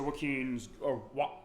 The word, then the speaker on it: Joachim: it's pronounced like a ton of different ways when people see it. But So Joachim is how the game pronounced. So I'll make sure I pronounce Joachim that is right. how the game pronounces it.